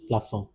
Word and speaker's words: plaçons: With c the sound of it is a bit soft s is how we pronounce it. Nous plaçons.